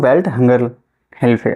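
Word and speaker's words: Welthungerhilfe: से सही से लेखन सेली नहीं लेकिन मैं उच्चारण कर रहा हूं वेल्ट हंगर हेल्फर आप ध्यान रखेंगे इस तरीके का नाम अगर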